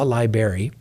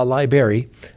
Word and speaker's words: library: in there and they go into the law library and that's how it's pronounced everybody calls it the law liary um at the jail usually people that did